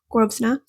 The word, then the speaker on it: Grosvenor: I'm saying it right now, Grosvenor.